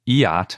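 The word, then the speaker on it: Iatt: In this case, the site is at Lake Eyot, I think it's pronounced, spelled I-A-T-T, and they use two-way travel time data.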